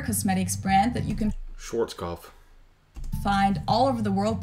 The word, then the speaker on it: Schwarzkopf: look at it, and I never think to pronounce the W's more like V's, but yeah, we'll say, you know, Storm and Norman Schwarzkopf, and it's like the V is there, it just pops out in my head.